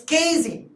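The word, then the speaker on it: casein: the milk that is called Kine it's cine okay so just pronounce it as cine so when this lactic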